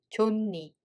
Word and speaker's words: 좋니: In this case, 히읗 becomes nu sound 받침, so we read it as 좋니, 좋니.